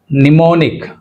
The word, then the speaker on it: mnemonic: First word mnemonic. Mnemonic ante M anedi silent mnemonic right.